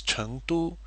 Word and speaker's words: 成都: So when it's in the name of the city, it's 成都, and when it's used as an adverb, it's 都.